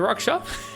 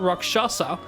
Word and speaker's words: Rakshasa: It's not Rakshasa because it's wrong. It's Raksha. That is the correct pronunciation. It is Raksha. The SA is not pronounced.